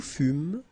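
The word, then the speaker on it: fûmes: Nous fumes, vous fûes. Il furent, elle furent. OK, encore une fois je fus. OK. Final pronounced ok fu ok nous fum s not pronounc vous same il furent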